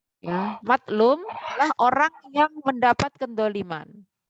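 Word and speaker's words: مظلوم: Makanya bacanya harus beda ya.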